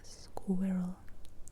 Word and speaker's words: squirrel: Écuroil écuroil écuroil écuroil en anglais on l'appelle squirrel squirrel squirrel squirrel squirrel squirrel squirrel squee squee squee c'est comme ce son qu'on a en biscuit en biscuit sque s Et donc roll roll roll comme r u e l square roll square deux syllabes square roll square roll